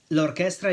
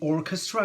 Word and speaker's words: orchestra: song Chinatown lraa shidu Orchestra is the orchestra notice that in Italian we say orchest ra with the accent on the second syllable whereas in English it's Orchestra on the first syllable it means repeated or